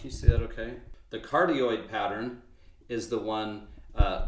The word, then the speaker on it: cardioid: just put it on cardioid is how you pronounce that so those those are